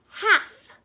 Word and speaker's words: half: strong at the end but we really want to listen for that health that silent L right there okay very good so with this one this L could be really tricky because the L sound can be silent but half half golf